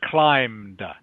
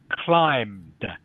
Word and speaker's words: climbed: and this word here this word here is climbed okay so the B the B is silent okay okay so it's climbed can you say that